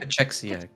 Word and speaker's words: Cachexia: Is that how you pronounce it? Cachexia. Gotcha. Cachexia.